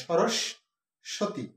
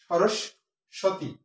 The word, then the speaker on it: সরস্বতী: সরস্বতী, এই স্বটা মাঝখানে স দুইবার উচ্চারিত হয়, সরস্বতী, সরস্বতী।